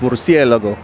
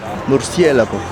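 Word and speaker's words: Murciélago: Well, Kanye might have called this car a Lamborghini Mercy, but it's actually pronounced Murcielago. Murcielago.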